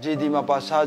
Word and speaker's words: Guy de Maupassant: Hi, Magi French pronunciation. Da. Asi samaga masi mayana GD Mapasa, GD Mapasa, and Kane.